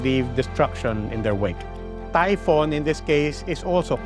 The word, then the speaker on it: Typhon: we get to that a Typhon spelled with one o is not a typo it comes from Typhon a monster in Greek mythology known as the father of dangerous winds sounds like typhoon and so if you